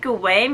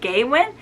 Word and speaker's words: Gawain: nimoy's childhood friend um did pronounce it gawain but i kept pronouncing it gaywin so is that the